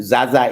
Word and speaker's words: Zaza: For them, Zaza is. But you know, I remember when I went for training at finance, my professor asked me how I got from Z-A-Z-A. In essence, he said it should be Zaza.